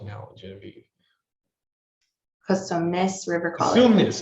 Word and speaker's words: Cosumnes: Cosumnes. It's also a very hard college to spell and pronounce, Cosumnes.